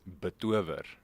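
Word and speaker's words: betower: Okay, so the proper pronunciation is betover.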